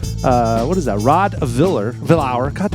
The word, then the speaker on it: Vilhauer: Rod Viller Vower. God, how do you say your last name? Vilhower.